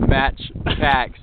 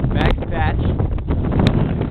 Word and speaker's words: Max Patch: probably the coolest place Caleb's been pronouncing it match packs this whole time coming up today but it is Max Patch beautiful place we got